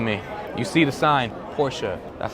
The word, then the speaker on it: Porsche: You see the sign, Porsche, that's how you say it.